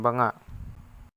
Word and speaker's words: Banga: Banga, pronounced ba-nga, meaning pot, is an earthen container originated by the northern Cordillera region of the Philippines.